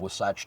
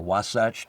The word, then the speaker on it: Wasatch: It's a company called Wasatch Tools. Yep. Or Wasatch, a couple of ways to pronounce it.